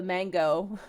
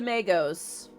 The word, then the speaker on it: Magos: And eventually, Pyriel's like, listen, Dakir, if you want to approach the mango, the Magos? Shit, someone literally just told me how to say it. If you want to approach the Magos, be our guest, but if they attack you,